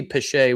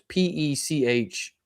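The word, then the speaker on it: Pêche: Well, it could be Pesce. We actually argued about it. It's Peche. Oh, yeah.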